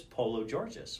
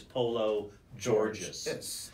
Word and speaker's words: Pologeorgis: data sales agents polo georgeous welcome to the show thanks and thank you for pronouncing my name correctly I really it's very easy it's just it's polo Georgia so anyway you were